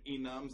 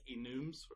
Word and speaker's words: enum: Some people pronounce them enums. I like enums because it's short for enumerated type.